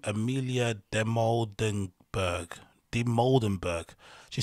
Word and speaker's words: Dimoldenberg: Dimoldenberg.